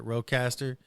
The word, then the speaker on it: RODECaster: Yeah, you said it right, Rodecaster.